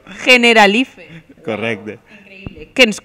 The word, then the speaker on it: Generalife: Em costa a mi dir l'altra pronunciació. Generalife.